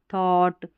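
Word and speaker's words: thought: हो रहा, इन स्पेलिंग्स में जी एच का उच्चारण नहीं हो रहा है। इसको बॉट, थॉट और इसको फ्रॉट पढ़ेंगे, और यहाँ पर इसको ड्राउट पढ़ेंगे, ठीक है।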